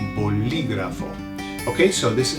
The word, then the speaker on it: bolígrafo: Pen, to write things, is bolígrafo, bolígrafo. Can you hear you say it? Be careful with the pronunciation. There's an accent on the I, bolígrafo.